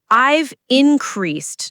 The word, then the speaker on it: increased: I've increased, not increased. The stress is on the second syllable.